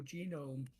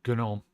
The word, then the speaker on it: GNOME: If they do go Gnome or if they go genome. It's Gnome.